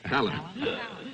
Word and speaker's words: Palance: I pronounce it Jack Palance. Palance.